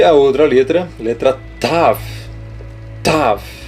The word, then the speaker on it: Tav: Tav. Ela vai ter o som mais de TH.